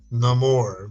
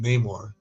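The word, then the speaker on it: Namor: But anyways, anyways, I agree about the the Reed Richards thing and even the the Neore, which I'm sorry, I've always said it Neymar. Okay, if I've been saying it wrong for 20 plus years, Neymar the Samariner, then I don't care.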